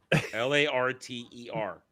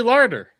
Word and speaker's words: Larter: Ali Larder. Ow. There's no D. I'm saying it correctly. Larter. Larter.